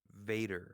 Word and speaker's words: Vader: just Vader I gotta don't be like a German and pronounce your V's as W's they have that habit Vader okay